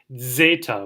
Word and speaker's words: zeta: Zeta, which as they tell you here is like this it's considered a double consonant. You have a DZ sound, zeta.